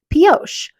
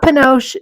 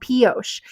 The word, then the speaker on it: Pioche: really wanted to talk about posos not penos don't worry I have said it wrong so many times it is called posos and it is basically